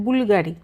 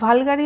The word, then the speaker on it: Bvlgari: হচ্ছে logo actually হ্যা Latin ভাবে ভিটা লোগো উচ্চারণ হবে বি এল জি আর আই কিন্তু উনার নাম হচ্ছে স্যার নাম হচ্ছে বুলগাড়ি কেউ কেউ অনেকে বলে না ভালগাড়ারি হবে কেউ বুলগাড়ি হলে এগুলো কনফিউজ কিন্তু এর পিছনে হিস্ট্রিটা